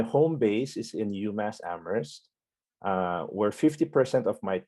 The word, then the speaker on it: Amherst: in amor people say you don't pronounce the h word uh so people say amherst uh but that's just kind of a trivia because there's another amherst in in new york